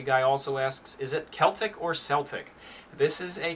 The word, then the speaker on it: Celtic: you say it it's it's pronounced celtic when you're talking about the celts the uh the tribe